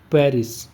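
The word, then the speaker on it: prairie: तो उसको कहा जाता है पेरिस। ठीक है? पेरिस नहीं होता है। इसको क्या पेरिस बोलते हैं। प्रिस यानी स्पेलिंग क्या होगा?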